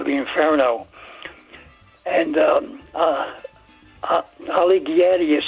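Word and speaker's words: Alighieri: And um uh Ali Giatti is spelled A L I G H I E R I.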